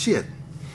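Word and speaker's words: Sthitt: Maxwell can call me, it's spelled S-T-H-I-T-T, but it's pronounced shit.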